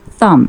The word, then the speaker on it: thumb: Thumb, silent B, pronounced thumb.